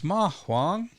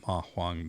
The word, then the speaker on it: Ma Huang: we're talking about today which is mahang so those are both second tones uh if you're familiar